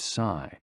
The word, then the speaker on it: si: The 6 sounds are XU, pronounced like shh, with a deep sigh, which is associated with the liver. HE, pronounced like her, with a yawn, which is associated with the heart. SI, pronounced like sir, with a slow exhale, which is associated with the lungs.